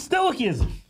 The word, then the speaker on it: stoicism: Kevin stew sto isms you're not even saying it right his stoicism how you say it there stoicism that's what I said stoicism I don't know